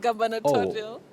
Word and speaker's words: gubernatorial: Or is gubernatorial? Gubernatorial. Got it. Gubernatorial, not gubernatorial.